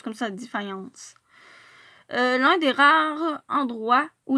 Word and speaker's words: Defiance: Oui, parce que ça se prononce comme ça, Defiance.